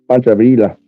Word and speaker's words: Pancho Villa: And you're putting an L sound in fucking Pancho Villa's name.